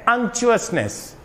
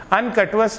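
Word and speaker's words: unctuousness: उसका correct pronunciation है अंक्चुअसनेस। अनकटवस नहीं होता, अंक्चुअसनेस।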